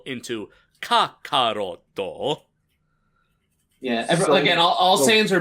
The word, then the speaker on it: Kakarot: Is it Kakarot or Carrot? I mean, it is Kakarot, but it is also Carrot. It's based on carrot. Yeah, Toriyama took the word carrot, karoto, and turned karoto into kakaroto.